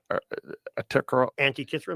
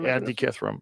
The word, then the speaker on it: Antikythera: Antikythera. Antikythera.